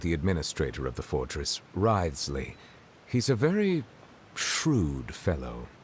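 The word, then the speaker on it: Wriothesley: personal dealings with the administrator of the Fortress ridesley he's a very shrewd fellow rightly that's how you pronounce it wisely yeah weird about him too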